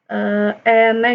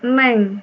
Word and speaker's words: eneng: Ini tulisannya eneng, jadi bacanya bukan neng.